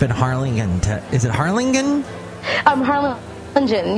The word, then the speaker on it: Harlingen: Harlingen. You could just pronounce, the G is Jen, so Harlingen. Harlingen.